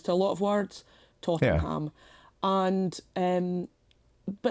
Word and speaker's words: Tottenham: area in London, and it's spelled Tottenham, right? Yeah. But whenever my husband and I discuss that football team, or indeed that area, without fail, we call it Tottenham.